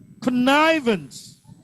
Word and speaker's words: connivance: Connivance. Second syllable.